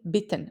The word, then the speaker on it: bitten: But if the vowel is single and followed by two consonants, it's short, like in bitten, which is crisp and quick. Bitten.